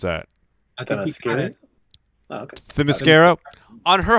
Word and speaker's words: Themyscira: How do you pronounce that? Themyscira.